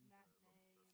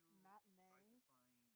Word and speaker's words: matinee: If we're on the topic of French words being mispronounced, matinee, like a matinee movie showing, is not supposed to be emphasized as much as we do just saying matinee. It's more of a quicker saying.